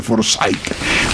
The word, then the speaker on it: Forsyth: por un señor Forsyth, se pronuncia Forsyth.